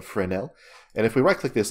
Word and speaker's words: Fresnel: type in for now which is spelled like fresnel but it's named after the guy that developed it I guess so it's a friend L and if we right-click